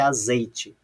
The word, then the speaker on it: azeite: letra A, que é azeite. Veja lá que eu vou uma dessas 3 sílabas eu vou falar mais alto, olha lá. Azeite. E aí? A sílaba tônica é o T?